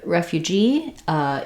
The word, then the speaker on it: refugee: at how to pronounce refugee and migrant. We'll also talk about the meaning and the difference in the meaning between these two words. So the word refugee is stressed on the last syllable G, but we do